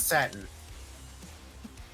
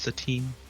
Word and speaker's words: Satine: It's satin. It's pronounced Satine. It's Satine!